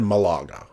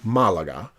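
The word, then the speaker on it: Málaga: There's a bunch of cool stuff now there's an accent over that first A, so I'm assuming, I've always said Malaga, and I think it's Malaga.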